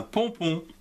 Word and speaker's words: pompon: Ici, un pompon. P, O, M se prononce pont et non pas pomme, P-O-N, pont, pompon.